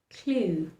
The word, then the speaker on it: clue: So, in words like bake, clue, and taste, the letter E likes to remain silent. Watch how I pronounce them again. Bake, taste, clue.